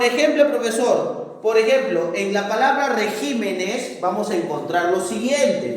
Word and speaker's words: regímenes: ¿Dónde está la mayor fuerza de voz? Está en la sílaba ji, ¿no es cierto? Regímenes, por eso es una palabra esdrújula, ¿no?